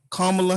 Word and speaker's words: Kamala: Now we all know that we have a new VP, Miss Kamala Harris. Am I saying it right? Yeah, Kamala Harris, and she has a white husband.